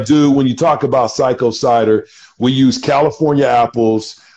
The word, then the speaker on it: Xaiko: the company is called psycho cider it's x-a-i-k-o pronounced psycho and we've had some really good success with